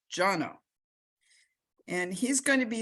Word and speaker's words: Jono: introduce jono and remember his name is pronounced jono and he's going to be speaking about more